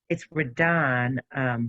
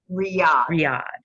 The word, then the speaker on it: Riyadh: It's Radan, but I can't. I'm pronouncing it wrong. Riyadh.